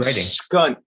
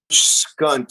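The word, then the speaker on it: HCUNT: I was writing skunt. Skunt, yeah. Nice. Wait, But spell that. The H was silent. Skunt. Just C-U-N-T with an H in front of it.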